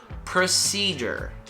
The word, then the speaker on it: procedure: lazy as well just like a bird er procedure procedure procedure repeat after me procedure let's go